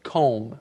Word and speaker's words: comb: m b but you don't say the b just comb yes it's one of those interesting words in English with a letter that we don't actually say but you must write that b now you can use